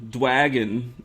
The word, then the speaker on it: Dwagon: Dwagon. It's like dragon, but with a W, and it makes you want to go say it like Dwagon.